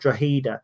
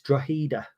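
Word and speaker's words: Drogheda: Ireland uh who said you don't pronounce the G it's draida um but they're called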